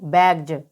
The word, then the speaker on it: bags: इसी प्रकार आप यहाँ देख सकते हैं BAGS। तो यहाँ पर वर्ड के लास्ट में जी दे रखा है और जी के बाद में एस दे रखा है। यहाँ पर भी एस का उच्चारण ज होगा। तो BAGS को हम क्या पढ़ेंगे? बैग्ज।